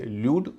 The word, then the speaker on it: lewd: LEWD, इसमें भी LEW का उच्चारण लू होगा, हालांकि इसका उच्चारण ल्यू भी है, इसे ल्यूड और लूड दोनों कहते हैं।